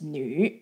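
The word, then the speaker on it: 女: And the character of a woman pronounced as nu.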